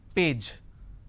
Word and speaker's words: page: Now the pronunciation is P, A, J, page. Correct? But lot of people replace the J with a Z. Page. They say page number. What is the page number? It's not page, it is page.